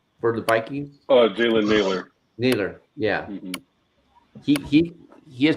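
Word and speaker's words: Jalen Nailor: Jalen Naylor.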